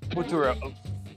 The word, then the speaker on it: futuro: Whereas in the violet, Professor Turo is reference to the Spanish word futuro, which is for future. All right, here we go. I'm going to get violet then. It's pronounced futuro. Whatever.